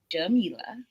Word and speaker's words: Jamila: Dr. Jamila, pronounced Jamila, is a proud graduate of the University, a historically Black college in Atlanta, Georgia.